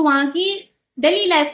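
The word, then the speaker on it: 九: Similar होता है 9 को जापानीज लैंग्वेज में प्रोनाउंशिएट किया जाता है कू की तरह।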